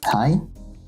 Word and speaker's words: hei: All three are pronounced as I. 17. Mai, the National Day of Norway. Hei, jeg, as well as Rein.